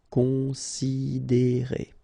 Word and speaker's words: considérer: Considérer, okay, same thing here. You get this accent aigu, and then the sound is E. Considérer.